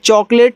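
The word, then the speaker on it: chocolate: जब ए के बाद एक लेटर छोड़कर के इ होता है तो ए का उच्चारण एक की मात्रा के रूप में टी से आपका ट और सबसे किनारे वाले इ का उच्चारण नहीं होता।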